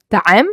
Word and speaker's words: طعام: Focus here on pronouncing the ta. If I said طعام, I pronounce it with the ta, not ta.